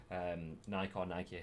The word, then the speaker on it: Nike: of life, to have Nike, however you want to pronounce it. I know it's Nike, but Nike to me.